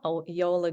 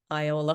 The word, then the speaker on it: Iola: It's a debut author, Yola Goulton. And it's spelled Iola, but it's Yola. I was calling her Iola for a long time. It's Yola.